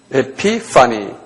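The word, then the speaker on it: ἐπιφάνεια: 한번 발음해 보세요. 에피파니.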